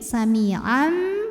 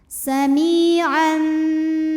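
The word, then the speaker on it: سَمِيعًا: panjang dua harakat Sami kemudian ada hukum iqlab karena ada tanwin fathah menghadapi huruf ba maka bunyi tanwinnya diubah jadi mim samiam dan kita dengungkan samiam bashi si Mad Thobi'i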